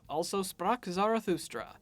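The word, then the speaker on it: Also sprach Zarathustra: also sprock zarathustra and for once I don't need to apologize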